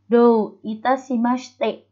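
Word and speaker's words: どういたしまして: Kalau sendiri, ketika di dalam kata-kata seperti ini dibacanya S-nya aja. HI-nya nggak dibaca. Jadi, do itashimashite, bukan itashimashite.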